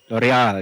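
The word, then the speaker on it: L'Oréal: And James Mo, head of business development in how do you pronounce that word? L'Oreal.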